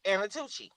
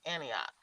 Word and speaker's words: Antioch: there from uh Apaloosus, she could not pronounce Antioch. She called it Anatui. Yes, sir. Cuz it's spelled A N I T O C H. So, she was like, Anna, too. She were like, "No, it's Antioch."